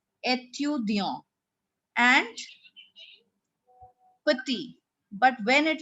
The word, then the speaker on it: étudiant: Now here we pronounce where there is no E in the end. It will be pronounced as étudiant.